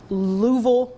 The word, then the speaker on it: Louisville: And so anywhere between Louisville, am I pronouncing that correctly?